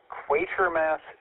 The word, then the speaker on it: Quatermass: Tonight's Afterglow movie discussion will focus on Quaker Mass 2 from 1957. Yeah, that's how it's pronounced.